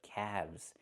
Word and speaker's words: calves: Or you have two calves, not calves, but calves. The L is silent and we pronounce the V sound with vibration plus the z sound like zebra together, calves.